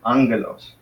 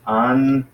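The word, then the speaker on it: ἄγγελος: Angelos. So you pronounce that as angelos. That's how you pronounce it. Angelos. So the accent is on the first syllable, angelos.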